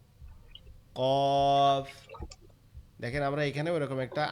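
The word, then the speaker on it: ق: জিহ্বার গোড়া তার বরাবর বলতে তার সোজা উপরে তালুর সঙ্গে লাগবে, লেগে উচ্চারিত হবে কফ, কফ।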